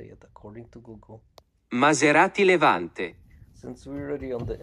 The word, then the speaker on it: Maserati Levante: Maserati Levante.